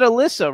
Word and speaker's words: Alyssa: We pronounce it Alyssa, right? Yeah, Alyssa. I just wanted to make, sure. No, Alyssa.